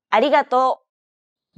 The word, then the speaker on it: ありがとう: This character isn't pronounced using an English R sound at all. り. It's like a mixture between an R and an L sound.